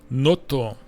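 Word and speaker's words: ノート: Notto. Right. Notebook. Note short, but they would pronounce it notto.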